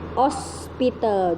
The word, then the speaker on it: hospital: Ya, ini tulisannya hospital, tapi kalian bacanya cukup hospital, jadi H-nya itu diilangin, jadi hospital.